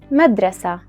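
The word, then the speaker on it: مدرسة: It is pronounced taء when you want to connect it with the next word, as in madrasatul faridi, and pronounced ha, which is a letter in the Arabic alphabet, when you stop at it, as in madrasa.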